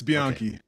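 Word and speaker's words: Bianchi: I rode and ride is it bian or how are you supposed to pronounce yep you're right it's bian okay yeah so my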